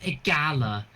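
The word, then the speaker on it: Igalla: name oh that's probably no it's pronounced a Gala I was we're going to a Gala I spelled it out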